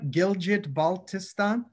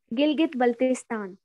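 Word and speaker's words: Gilgit-Baltistan: the hongza river how do you say that gilgit baltistan gilgit baltistan gilgit baldistan can you say that baltistan it's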